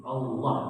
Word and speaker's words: Allah: di dunia Saya ulangi ketika diucapkan lafaz Allah itu Allah tapi dengan lamnya tebal ya bukan tipis menurut hukum bahasa Arab